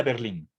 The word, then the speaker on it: Berlin: es un nombre español y por más que la fuerza de voz esté en la última sílaba no he visto yo